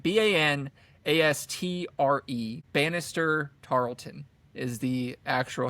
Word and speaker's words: Banastre: And then also Jason Isaacs based off of Bannister I can never say his name. It's like Banastre.